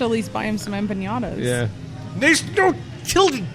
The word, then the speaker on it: empanada: I feel like I should at least buy him some empanadas. Yeah. There's no Tilde. It's empanada, not nyada. There is no Enya in there.